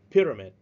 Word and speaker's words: pyramid: the second word pyramid pyramid you spread at the first syllable pyramid it is the last